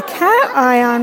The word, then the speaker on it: cation: so cations are positive do pay attention to how you pronounce and I on I on to have a cat eye on what we need is